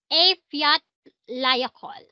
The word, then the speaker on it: Eyjafjallajökull: F Eyjafjallajökull.